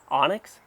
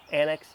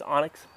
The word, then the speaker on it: Onyx: got the big Z Onyx is how it's pronounced right it's not an Annex it's Onyx uh which is another